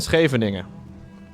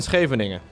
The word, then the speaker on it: Scheveningen: This would be pronounced as follows. Schat, ik heb een schip in Scheveningen. Schat, ik heb een schip in Scheveningen.